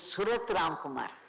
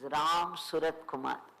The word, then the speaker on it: Ramsuratkumar: But Ganapati said, it is Surat Ramkumar. Ganapati himself told me that. So Ganapati ji said it wrong. Then Paramacharya corrected him saying, no, it is Ramsuratkumar.